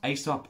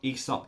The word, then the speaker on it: Aesop: adore and that is aesop pronounced aesop esop depends where you come from but either way this